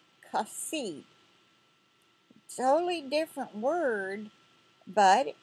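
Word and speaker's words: חָסִיד: And this is pronounced kasid, kasid.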